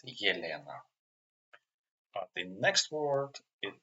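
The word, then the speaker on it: Елена: For example, when it starts with the, if this letter in the beginning of the word it's pronounced like yeah. For example, Yelena. It's not Elena, it's Yelena.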